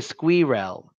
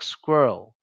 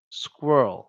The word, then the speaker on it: squirrel: they think is like they think they should pronounce that differently um they should stress it so they say square L square L I understand why some people say